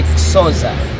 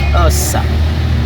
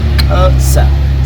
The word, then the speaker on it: Xhosa: So in English, you'd say Xhosa, I suppose. Yeah, yes. Xhosa. But the real pronunciation of it's the X. It's a click at the back of your tongue where you say Xhosa. Xhosa.